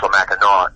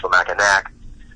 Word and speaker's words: Mackinac: spelled that out, and as is sometimes the case in French, if you have a consonant at the end preceded by a vowel, the consonant is silent. So it's St. Louis, it's not St. Louis, it's Mackinaw, not Mackinac.